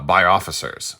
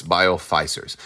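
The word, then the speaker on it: Bioficers: bio officers uh or I'm sorry biof feisers I believe is that the actual pronunciation although it does look like officer but there's only one F so it's not officer it's biof fisers um so these are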